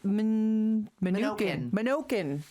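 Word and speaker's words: Menokin: It is Minokin.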